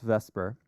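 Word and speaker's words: VSEPR: three and the shapes come from something called vesper which is spelled backwards the way it's pronounced but it's pronounced vesper which basically just says that electrons repel each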